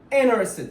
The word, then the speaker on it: interested: to copy them okay T after n you shouldn't pronounce it interested right okay when do